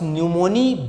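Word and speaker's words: pneumoniae: इन्होंने क्या किया कि इन्होंने डिप्लोकोकस न्यूमोनी बैक्टीरिया के स्ट्रेन पर अपना एक्सपेरिमेंट किया है, एक्सपेरिमेंट ऑन डिप्लोकोकस न्यूमोनी। क्या है ये diplococcus न्यूमोनी? Causal organism of न्यूमोनिया। ये साइलेंट है।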